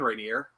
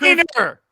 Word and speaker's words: Rayner: How you doing, Rainier? And it's pronounced Rainer.